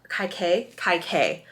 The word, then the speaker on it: Kaikeyi: Kaikeyi is how you pronounce her name.